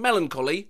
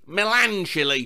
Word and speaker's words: melancholy: All my life, I've been pronouncing melancholy, melanchily.